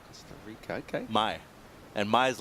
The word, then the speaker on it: Costa Rica: you one thing though Costa Rica they pronounce the r ra ra yeah like Costa Rica Costa Rica okay my and Ma